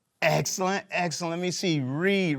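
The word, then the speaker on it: Reid: Reed. Reed rhymes with seed.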